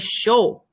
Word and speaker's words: chaud: The D is silent. Il fait chaud.